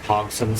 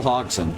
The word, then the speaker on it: Hodgson: This group tosses around a lot of Hogson, so that's not how you pronounce his name. Yeah, Joel Hodgson. Joel Hodgson.